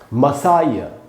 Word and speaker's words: Messiah: पढ़ेंगे कैसे, इंग्लिश में कैसे पढ़ते हैं इसको, इंग्लिश में पढ़ेंगे दोस्तों मसाया।